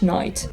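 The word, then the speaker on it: knight: ночь рыцарь, да, что пишем через букву K, но произносим все равно как ночь, night.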